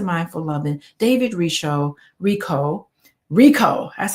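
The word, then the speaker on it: Richo: five keys to mindful loving David risho Rico Rico that's how you pronounce it and I'm on page 145 and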